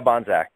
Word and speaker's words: Bohnsack: Yeah, Bohnsack.